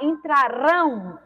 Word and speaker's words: entrarão: Já a palavra entrarão, o rão, é mais forte, que é a última sílaba, então se trata de uma palavra oxítona.